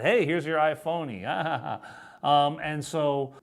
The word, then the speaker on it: iPhone: the time was the iPhone but everyone here pronounced that I phony which made me think